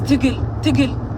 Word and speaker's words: Tigle: And don't be calling me Tigis. That's not my goddamn name. My name is Tigil, but Tigil in Tagalaland.